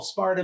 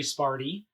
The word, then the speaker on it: Sparta: I've heard people call Sparta, Missouri, Sparty. Why?